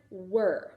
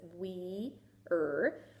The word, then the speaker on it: were: And so in this case, the silent E doesn't have a job in this word. And that's why I like to keep it as a leap word, because normally we would think it says we-er, but it's were.